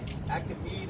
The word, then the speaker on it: Achaemenid: It was called the Achaemenid or Median Empire or dynasty.